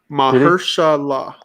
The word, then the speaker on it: Mahershala: Tyler just gave you a pronunciation. Mahershala.